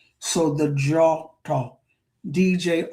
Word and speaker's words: Djôtô: So D I DJ or DW has that J sound. So the draw talk DJ O T O thank well that's I was going to say walking.